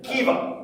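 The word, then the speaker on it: Caoimhe: C-A-O-I-M-H-E, or H, as they say over there. Kiva, right? Kiva.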